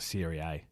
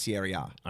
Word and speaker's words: Serie A: Sierra A? Or R? I say A. I call it Serie A. Sierra A, yeah. Yeah. Okay. Because I've heard people say it's Sierra A.